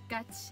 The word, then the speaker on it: ガチ: So gachi, I wrote it in katakana, and you can pronounce it as gachi, and it means really or in best effort.